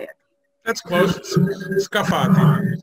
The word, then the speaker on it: Scafati: And I'm not going to because I would pronounce it Scafati. How do you say it? That's close. Scafati. Scafati.